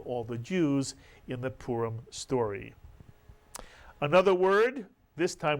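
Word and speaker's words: פורים: 2 vowels, the shuruk and the hirik. Therefore, 2 syllables. The first syllable would be pu, mitsuyan. The second syllable, reem. Put the word together, you get purim. In English, we call it Purim.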